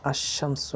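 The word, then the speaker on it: الشمس: তো সেই ক্ষেত্রে যেমন আশামসু, এখানে নামটা উচ্চারণ হচ্ছে না।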